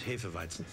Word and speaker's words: Hefeweizen: No, sir, please. It's Hefeweizen. Yeah, don't pronounce that shit wrong.